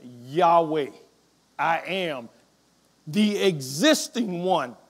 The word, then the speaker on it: Yahweh: In the Hebrew, those are the letters YHWH. And we believe it is pronounced Yahweh.